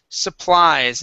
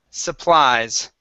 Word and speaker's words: supplies: one is the word supplies instead of so please supplies supply okay uh with the z sound there at the end supplies supplies okay s